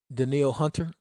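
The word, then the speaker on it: Danielle Hunter: this um I appreciate daniil hunter even though it's spelled like Danielle that's still my god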